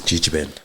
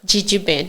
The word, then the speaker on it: Gegeben: So, let's talk about the start of So, how do you how do you pronounce it? This is Gigi Ben. GG Ben.